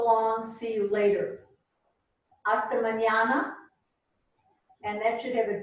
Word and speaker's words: mañana: Hasta mañana. And that should have a tilde over it, that first end. Hasta mañana. The tilde means it's pronounced like nya.